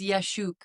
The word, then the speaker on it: Yaschuk: Do you know how to properly pronounce it? I can't tell you. You're gonna call it. Yes, it's Yaschuk.